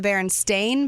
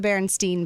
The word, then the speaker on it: Berenstain: Now, are you in the thought that they're the Berenstain Bears or the Berenstein Bears? I always say Berenstain because that's the way it's spelled. It's spelled AIN.